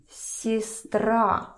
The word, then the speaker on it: сестра: So we see that Е is not stressed. So listen to my pronunciation. Сестра, сестра, сестра. So it's almost turns to E.